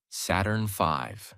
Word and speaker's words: Saturn V: The rocket they used was called Saturn V, pronounced Saturn V.